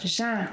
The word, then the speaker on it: já: Ok, so before we see the first usage of ‘já’ let´s work with the pronunciation. It's 'já' as in 'vision'.